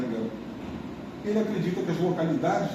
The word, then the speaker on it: Jan Gehl: Ele é dinamarquês, tá? Se pronuncia Jan Gehl.